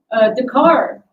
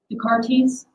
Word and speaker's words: Descartes: Yo, Dakar. I'm assuming it's pronounced like that, like Rene Dakar. Descartes. Descartes, more like the parties.